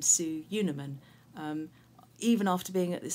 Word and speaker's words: Sue Unerman: in school assembly and I pronounce my name su Yuna Minh even after being at